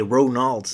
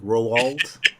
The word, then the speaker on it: Roald: But yeah, Roald Dahl always had this weird sense of humor. Man, I hate that guy's name. I always want to say Ronald Dahl, but it's like Roald.